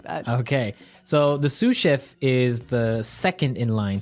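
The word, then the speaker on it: sous: to our second word suf suf suf suf s o u s so the S is silent because it's like a French word yeah something like that okay so the suf is the second in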